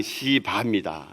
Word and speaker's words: 시바: 여러분 세게 발음하면 곤란해집니다. 그냥 시바입니다.